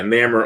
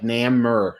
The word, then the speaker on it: Namor: always said growing up, I said a soft A like Namor, and then ER. That's how I always pronounced it. Well, it looks like name, but with an OR at the end almost, right?